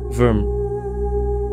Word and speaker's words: vvyrm: That's why I use the term vvyrm, a modified version of worm, even though the root of the word worm came from worm. I know it sounds weird because all of them pronounce like worm.